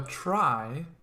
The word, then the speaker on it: trie: a try that's how this is pronounced right here a try sometimes called